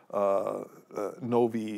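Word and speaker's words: novae: Novi is how you would pronounce it, but we don't know of any of those kind of things.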